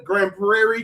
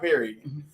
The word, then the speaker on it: Grand Prairie: I'm saying it right, Grand Prairie, because I'm a little country. Prairie, not Perry.